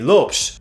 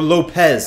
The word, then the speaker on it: Lopes: man of the match Anthony Lopes, or Lopez if the Spanish pronunciation of his Portuguese name is more your style.